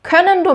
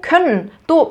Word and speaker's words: können: können도 맞고 können도 맞아요. 사전에도 두 가지 발음 다 올라가 있어요.